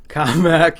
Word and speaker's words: Commack: COMMACK in 1929. He's a purist. That is the way it's supposed to be pronounced.